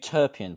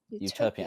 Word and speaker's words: Euterpean: How do I pronounce The it? Euterpean Podcast. Euterpean, and there's a full podcast.